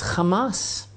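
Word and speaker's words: חמס: Now, the Hebrew word for this violent robbery is Hamas. And I'm like, this is really interesting, because everybody knows that Hamas, pronounced the same way, is in Arabic the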